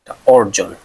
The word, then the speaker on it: অর্জন: পরে যদি রেফ থাকে অধনির পর রেফ থাকলে তখন অ এর উচ্চারণ কার মত হবে ও এর মত হবে অ এর উচ্চারণ ও এর মত হবে অর্জন হবে অর্জন